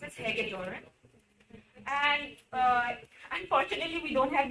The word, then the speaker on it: Hagedorn: It's pronounced as Hagedorn.